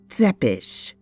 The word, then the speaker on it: Tepes: very long time v tepes professional insanguinator remember it's pronounced zepesh romania paris london whitby